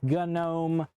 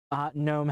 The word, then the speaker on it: GNOME: I pronounce it GNOME. Some people pronounce it GNOME. The developers of GNOME have said you can pronounce it either way.